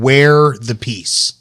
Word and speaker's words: Wear the Peace: The company is called Wear the Peace. We are the peace. Wear the peace. Okay. But it's spelled W-E-A-R.